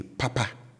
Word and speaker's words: papa: And as you can hear, the tone with which I pronounce both syllables are up. So they are high, right? So I say papa, papa, and that means good, okay?